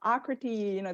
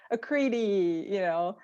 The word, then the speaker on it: Akriti: And I was like, oh yeah, her, Akriti, that's how you pronounce her name. But a lot of people say Akriti, So it's like kind of reinforcement in a very casual way.